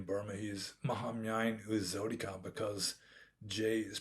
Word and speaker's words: Jotika: is known in burma he's mahamyan who is zodika because jay is pronounced like zee in with a burmese accent so mohammyan who's zodica i knew him and i met with him